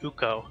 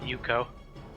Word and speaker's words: Ukko: and Remax I guess oh Maple says it's pronounced uko not Yuko it's Buca oh thanks for your uh for